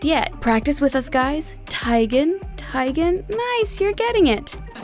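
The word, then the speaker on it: Teigen: moniker her name is originally to be pronounced as tygan as in bowtie and not tegan but she's gotten so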